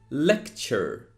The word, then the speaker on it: lecture: in mind is that it doesn't sound tour it actually sounds like chur chur so pay attention to these words and see how that last part is pronounced it is lecture it is culture not